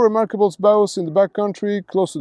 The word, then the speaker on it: Baous: It's Baus, le Baus des Blancs, le Baus des Noirs. Just ba like battle and us like nothing, just us. Isn't French simple? There are 4 remarkable Baus in the backcountry close to the coastline.